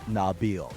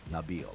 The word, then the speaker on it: Nabil: Oh, by the way, it's Nabil, not Nabil.